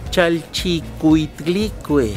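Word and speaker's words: Chalchiuhtlicue: Chalchicuitlicue. Exactamente. Ahora, ¿pronúncialo usted?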